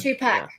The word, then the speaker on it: Tupac: like Tupac hologram off two pack that's how you say it two pack two pack